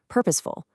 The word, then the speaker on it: purposeful: Notice how the stress hits right at the beginning on purposeful.